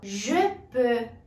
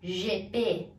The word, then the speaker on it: je peux: Je peux, eu posso. Je peux. Observe que você não vai pronunciar GP. GP, je peux.